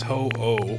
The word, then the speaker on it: Ho-Oh: It's the pronunciation of the name. It is ho-oh.